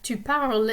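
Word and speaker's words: tu parles: the end of of tuparal is silent you don't hear the s there um it's the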